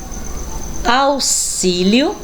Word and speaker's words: auxílio: e exemplo vamos ver x com som de ss olha só que diferença agora não é palavrinhas com dois ésses vamos lá próximo auxílio e máximo realmente não fonema as